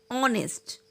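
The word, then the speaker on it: honest: ऑनेस्ट, our, honour, इन सभी में H silent है, लेकिन कहीं कहीं पर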